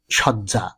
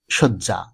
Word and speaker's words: শয্যা: আরেকটি শব্দ, এই শব্দটিকে আমরা অনেকেই ভুলবশত সজ্জা উচ্চারণ করি, যেমন ফুল সজ্জা, মৃত্যু সজ্জা, যা শুদ্ধ নয়। উচ্চারণটি শুদ্ধ রূপ হবে শয্যা, মৃত্যু শয্যা কিংবা ফুল শয্যা।